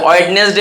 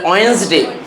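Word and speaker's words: Wednesday: আমরা কি বলি, ওয়েডনেসডে বলি, এটা ওয়েন্সডে।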